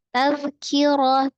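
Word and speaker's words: تذكرة: Tazkirah, tazkirah, ada zal sukun, dirogohkan kiroh, rohnya kasrah ya, rohnya fathah, dibaca tebal, tak marbutohnya dibaca ha, kiroh.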